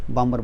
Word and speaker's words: Balmer: देखो यहाँ पे हमने लिख दिए बामर, BALMER, इसमें L साइलेंट होता है, बामर बोल दिया करो।